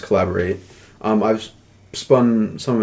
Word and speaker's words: Caleborate: which his name is i'm pretty sure it's pronounced collaborate um i've spun some